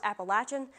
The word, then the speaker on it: Appalachian: And in case you were wondering from earlier, that is the correct way to pronounce Appalachian, so don't say I never taught you anything.